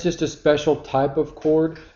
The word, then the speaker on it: chord: chord but that's not how it's pronounced it's pronounced chord and it's just a line segment whose endpoints